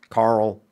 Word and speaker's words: Carl: With my accent, I say Carol. I hit that R, and then go out of the L. Whereas you say it properly, Carl. I don't speak properly. I don't say Carl. I don't say Carl. Or Carl. Say Carol, which makes it sound like I'm saying Carol.